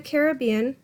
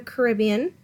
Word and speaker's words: Caribbean: interpret the geography of the Caribbean or the Caribbean pronounced either way we're gonna locate the